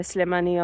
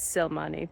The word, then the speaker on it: Slimani: TBR, but keep Leila Slimani on my, which I did pronounce wrong before, because I read it as Silmani, but you know, that's because I'm not very good at reading.